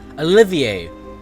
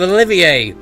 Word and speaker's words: Olivier: Olivier. Why is there an R at the end of Olivier?